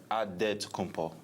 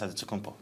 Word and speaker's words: Antetokounmpo: the Nigerian way, you gotta say with a D. So it's Adetokounmpo. But in the Greek way, you say with the NT, like Antetokounmpo.